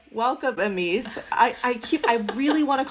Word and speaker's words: Emese: It is Emese.